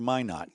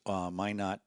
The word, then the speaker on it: Minot: It was Why Not for Minot. Yeah. Randy, yes. Okay. Yes. Anyway, I don't want to pile on. No. I think that's Minot, North Dakota or South Dakota?